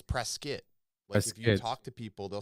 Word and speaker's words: Prescott: pronounced prescott not prescott it's pronounced prescott like a biscuit prescott oh wow cause it's spelled no i think press scott right like prescott i think no it's press skit talk to people they'll